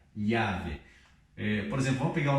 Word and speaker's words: llave: E aqui nós lemos da seguinte forma, não vamos ler como LH, llave.